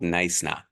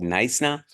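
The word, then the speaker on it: Knysna: few nights in called nna you don't pronounce the k it's called nna um the so-called Jewel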